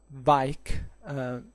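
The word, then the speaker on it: Vajk: And and in fact he was known, he was born actually as Vaik, if I pronounce it correctly, it's spelled V-A-J-K, to assume the one of Stephen.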